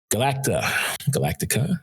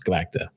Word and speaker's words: Galacta: Galactica, right? So we would call it Galactica. No, it's Galacta.